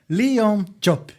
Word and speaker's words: Leon Diop: This episode is number 220, and tonight we are receiving Leon Diop.